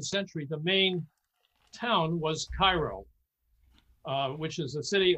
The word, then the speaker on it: Cairo: turn of the century the main town was cairo uh which is a city on the mississippi now it's not pronounced cairo down there it's called cairo naturally naturally and and i was i